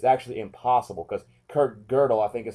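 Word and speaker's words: Kurt Gödel: no proof or disproof it's actually impossible because Kirk girdle I think is how you pronounce his name um Kingwood is you know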